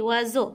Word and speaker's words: oiseaux: gazelle oiseaux j'ai créé oiseaux avec s mais se prononce z caresse en train de